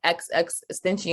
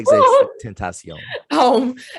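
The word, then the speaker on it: XXXTentacion: He also put me on to XX Extension, and I probably said his name, pronounced his name. Yeah, XX Tentacion.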